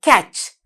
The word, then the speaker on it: catch: Now here this is the word catch. C-A-T-C-H. catch. Then මෙතනත් පුතේ මේ T අකුර silent T letter එකක්. අපි කියන්නේ නෑ cat ch කියලා.